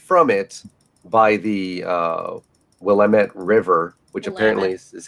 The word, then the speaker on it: Willamette: we are separated from it by the uh willamette river which apparently is how you say that i don't even know willamette yep of course with that being said three